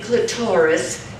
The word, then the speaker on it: clitoris: your name correctly well some say clitoris to rhyme with Doris but i prefer the accent on the clint I've been called joy